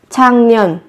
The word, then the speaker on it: 작년: 작년, 작년, 작년. Năm ngoái. Các bạn chú ý với cái phát âm là thành 작년. Viết là chắc nhưng phát âm là chẳng.